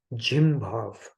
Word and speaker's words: jim bhav: It is called jim bhav, not the gym. Okay, jim bhav. Lack of simplicity. Okay, what is jim bhav? This pronounces like gym only.